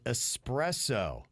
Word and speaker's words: espresso: And Nick said, can you let Jbird know there's no X in espresso?